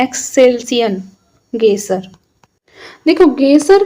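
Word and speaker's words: Excelsior: एक्सल्सियन गेसर देखो गेसर का जो संबंध होता है वह वास्तव में ज्वालामुखी क्रिया से संबंधित होता है।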